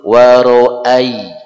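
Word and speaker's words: وَرَأَيْتَ: Yang betul wa ra'ai. A dengan y. Ai. Bukan i juga. Wa ra'ai. Y dibaca lemes. Lin, harful lin.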